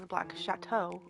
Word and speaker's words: Black Chateau: And here I get out loud again, it's literally makes you think instead of the Black Chateau, which is how it's pronounced, the Black Shadow.